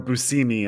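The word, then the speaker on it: Buscemi: Oh, Steve Buskami or Busousimi as it's actually pronounced.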